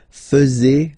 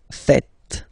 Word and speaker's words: faites: tend to say vous faisiez, okay? But then no. It's vous faites. Vous faites. Okay? So remember, final S here is not pronounced, and then this E is not pronounced either.